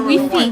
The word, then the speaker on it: Wi-Fi: sur It's le Wi-Fi.